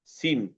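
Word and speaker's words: scene: তারপরে এস সি ই এন ই, সিন, এখানে সি এর পরে এস এর পরে সি আছে, এই জন্য সি এর সি সাইলেন্ট হয়ে গেছে।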